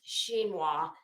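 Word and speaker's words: chinoiserie: it is spelled is c-h-i-n-o-s-e-r-i-e but it's pronounced xinhwa and xinhwa is like uh it's very Asian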